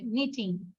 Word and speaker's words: knitting: নিটিং আর sweater, এটা নিটিং হবে, হ্যাঁ, এন দিয়ে প্রোনাউন্সটা হবে নিটিং।